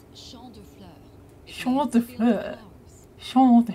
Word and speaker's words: Champ de Fleurs: It's Champ de Fleurs.